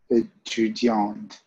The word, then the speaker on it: étudiante: You see the end is letter E. So what's the difference between the two? In terms of pronunciation, what are you supposed to say? Étudiante.